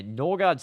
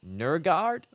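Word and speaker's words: Nørgaard: Norgard's name is pronounced like Nurgard or something like really weird.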